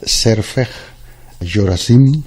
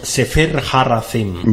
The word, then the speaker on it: Sefer HaRazim: Lo voy a pronunciar mal. Serfej Yorazim, ¿puede ser? Sefer Harazim. Vale, sí, pues así es.